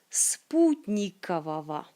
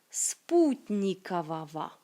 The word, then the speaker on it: спутникового: Спутникового. Спутникового. Pas vogo, oui, mais va. Si vous savez des règles de lecture, vous savez sans doute que ça se prononce comme ava à la fin. Спутникового.